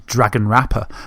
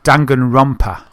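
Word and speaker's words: Danganronpa: and want to say I always want to pronounce it as Dragon Rapper, but it's Dangan Rumpa.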